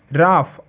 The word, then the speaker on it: rough: Next রাফ, ROUGH, রাফ, ওকে। এখানেও GH এর উচ্চারণ হচ্ছে ফ এর মতো।